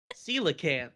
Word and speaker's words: coelacanth: Coelacanth.